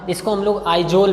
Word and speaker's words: Aizawl: इसको हम लोग आइजोल भी पढ़ते हैं, मतलब लिखा तो अगर देखा जाए एजावल लिखा हुआ है, एजावल, लेकिन बच्चों इसका हम लोग आइजोल पढ़ते हैं।